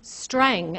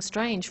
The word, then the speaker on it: Strang: And on the right-hand side, your very own Ian Strang, as I'm told his name is pronounced. I've been saying Strange for a couple of years.